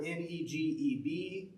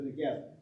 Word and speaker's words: Negev: You may see it spelled Negev, or Negeb, or Negbv. That's because the ba and the va in Hebrew are the same letter.